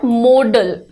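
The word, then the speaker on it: modal: हिस्से को कहते हैं मॉडल मॉडल की स्पेलिंग पर ध्यान दीजिएगा अक्सर स्टूडेंट इसको मॉडल लिख देते हैं बट इट इज नॉट मॉडल related to modelling ठीक है दिस इज मोडल ये कहां से आता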